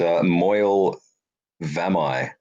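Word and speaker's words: Moel Famau: Actually, I learned how to pronounce it today. By the way, it's Moyle Vamai. Okay. Moyle Famai.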